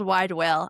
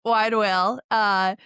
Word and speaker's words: Widewail: And yes, you nailed wide whale. I get it all the time. Like, how do I you wanna say pronounce it?